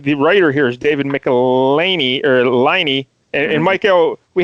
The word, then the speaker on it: Michelinie: where they actually say it rhymes with pickle my knee. So that's where I get Michelinie from.